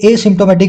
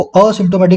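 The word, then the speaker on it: asymptomatic: Sentence में देखने वाली चीज क्या है मेरे भाई, ये एसिम्टोमेटिक है, इसको असिम्टोमेटिक ना बोलें।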